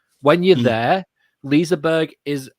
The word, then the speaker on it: Liseberg: Liseberg.